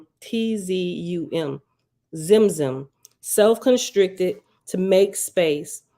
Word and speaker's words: Tzimtzum: Zimzum, I'm sure the T is silent, Tzimtzum, Zimzum, self-constricted to make